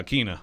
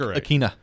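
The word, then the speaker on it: Ikhine: Speaking of NWI, did y'all confirm the pronunciation? We did. Yeah, Akina. We are correct. Nick Westbrook Akina. Nick Westbrook Akina. So everybody saying it wrong is wrong.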